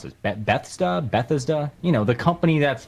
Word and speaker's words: Bethesda: got it from the uh how do you pronounce this be Betha Bethesda you know the company that's publishing the new